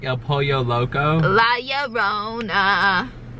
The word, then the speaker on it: La Llorona: It's, well, two L's, like two L's are pronounced with the Y.